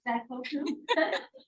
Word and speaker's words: Daikoku: Daikoku.